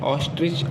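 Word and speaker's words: ostrich: अगला उदाहरण ओ से लेते हैं ऑस्ट्रिच। ऑस्ट्रिच मीन्स होता है शुतुरमुर्ग। ओ का उच्चारण यहाँ भी हम आ के रूप में कर रहे हैं, ठीक है।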